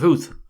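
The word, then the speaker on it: Howth: to take for ho I pr ounc the word as it is spelled to rhyme with South he corrected me at once is the hill of Huth you mean he said making it rhyme with youth and that's your tram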